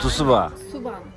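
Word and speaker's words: цуйван: T-S-U-B-A Tusuban. Bizim... Sonunda ne var? Ne? Tusuban. Evet, bunlarda böyle bazı harfler var. Mesela T-S diye okunuyor işte. Evet. Bir harf... T-S diyor. Aynen, bir harf ama iki şeyli.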